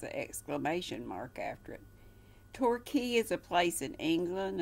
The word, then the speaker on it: Torquay: r qu a y so it looks like torque way that's pronounced Torquay and then de my